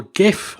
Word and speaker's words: GIF: Maybe, and this is something we've done with clients before, you could even record a little GIF animation. And it's GIF, I refuse to pronounce it GIF.